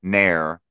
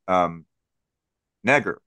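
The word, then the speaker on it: Негр: The Cyrillic script that is shown there would not be pronounced N-E-H-R, Nair, like a hair removal product. The four Cyrillic symbols shown there would be pronounced Neger, like Niagara Falls.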